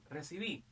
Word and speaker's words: recibí: Mira, a ver, recibí. ¿Dónde lleva tilde? La mayor fuerza de voz está acá. Recibí, lleva tilde acá.